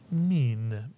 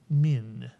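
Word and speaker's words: מן: It's a one-syllable word pronounced as min, mitsuyan, or sometimes you'll hear an even shorter e under this word, as if it were written min. Either way, min or min.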